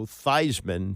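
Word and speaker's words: Theismann: So, uh, the player known as Joe Thesman became Joe Thyman to rhyme with Heisman and they came up short to Jim Plunkett.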